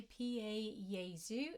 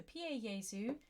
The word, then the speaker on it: Pie Jesu: Jesu orgies you okay PA Jesu is what we're gonna be singing the correct pronunciation so PA yaesu here AZ domine Dona